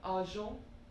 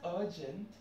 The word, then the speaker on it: argent: So argent. Not to be pronounced as urgent, though we are writing it as urgent, but meaning is different, pronunciation is different when it comes to French. So it's argent.